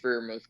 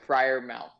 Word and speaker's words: Freiermuth: will always mess up like like like a friar like like a like a yeah little abbott guy friar mouth got it yeah okay uh but